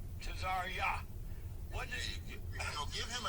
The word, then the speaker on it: Tazaryach: What does it feel like to you, Tazaryach? Right. Tazaryach. Tazaryach.